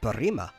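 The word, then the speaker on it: Burima: are in the city of Barima. Barima? Can you spell that?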